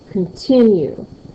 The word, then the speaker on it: continue: When I get to the word continue, continue, You can hear that. Continue. Tin. And so that would go in a second stressed syllable.